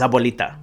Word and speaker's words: Abuelita: you know I so the actual pronunciation is Abuelita for me I was so little and so young I couldn't say abolita I always say so